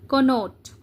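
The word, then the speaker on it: connote: कोनोट। उच्चारण समझो, spelling correction भी आता है। कनोट, नोट, NOT, नोट आपको पता है ना, ठीक है, इसके साथ CON ऐड कर दो तो हो जाएगा कनोट।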